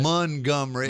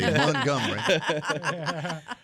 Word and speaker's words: Montgomery: Montgomery, as the locals say. Montgomery.